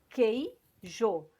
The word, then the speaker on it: queijo: Queijo. Isso aqui é uma coisa só. Eu não pronuncio esse U.